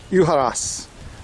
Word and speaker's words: Ujarrás: so very interesting also correction uas Accent on the last syllable um but of course